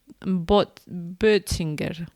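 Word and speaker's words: Bötzinger: La parte de inspirar, es el complejo pre botchinger. Bueno, pronunciado bien en alemán, Butchinger, tú que sabes alemán, Butchinger, algo así, ¿no? Con o con el la diéresis, el lumlout.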